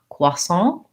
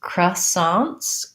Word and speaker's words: croissant: short the word croissants i hear different pronunciations in american english of course the french is cuason not forgive my lack of i have an accent when i speak french obviously americans will say it as croissants kind of a schwa